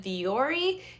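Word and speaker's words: Vuori: They are, I think you pronounce it Viore.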